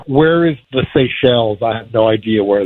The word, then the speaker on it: Seychelles: Like, where is the Seychelles?